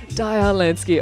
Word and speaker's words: Diar Lansky: and um before we go on have i pronounced your name correctly yes it's actually dire land daya lansky all right let's get that right straight up